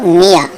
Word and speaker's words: মিয়া: বাংলা ভাষায় শুধু একটি শব্দের মধ্যে ইয় অক্ষরটি স্বরে আ এর মতো উচ্চারণ হয়, সেটা হলো মিয়া।